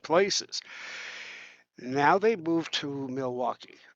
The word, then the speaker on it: Milwaukee: Now, they moved to Milwaukee or you could pronounce it Milwake.